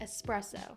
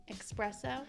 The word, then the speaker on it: espresso: we are all right I say espresso but do you say expresso I used to say expresso when I thought it